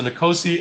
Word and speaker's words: Nicosi: So you pronounce the N. Okay, so Nicosi S.